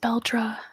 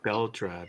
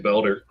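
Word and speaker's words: Beldre: Bel and the audio book is pronounced Beldra. Bel. Thank you. Beldra. That's right. I was saying Belder.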